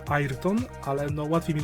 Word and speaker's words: Ayrton: oznaczone jako Special for airton i tak przy okazji technicznej się wymawia airton ale no łatwiej mi